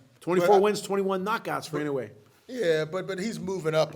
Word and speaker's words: Inoue: Now, before we get to Errol Spence, Bud, Stevie Fulton against Neo you pronounce it better than I do. Inoue.